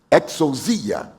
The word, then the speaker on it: exousia: poder nas nossas bíblias A primeira é exousia É isso pastor Paulo Tá certo essa pronúncia exousia que é competência que é